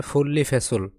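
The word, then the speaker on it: 분리배출을: এর উচ্চারণ হবে ফুল্লি ফেসুল। এই নিয়মের উচ্চারণ হবে ল।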